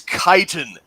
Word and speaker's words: Chitin: we are talking to you might not know how to pronounce it i certainly didn't before tonight it's kiten defense kyle from kite and